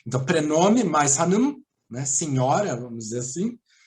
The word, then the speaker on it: Hanım: O Hanım, né, esse I sem ponto se pronuncia com I, existe o I com ponto sem ponto. Então, prenome mais Hanım, né, senhora, vamos dizer